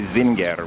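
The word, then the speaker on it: Зингер: something like Z zing in Russian they say Zinger which I'm pretty sure is closer to the German than the English pronunciation so anyway so this this is uh uh Dom comp Zinger um because it was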